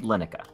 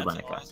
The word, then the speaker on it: Llennoca: Oh, yeah, everybody pronounces it Lineka. Sorry, Lenoka. It's supposed to be Lineka. Supposed to be Lineka.